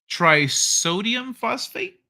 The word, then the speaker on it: trisodium phosphate: Trisodium phosphate?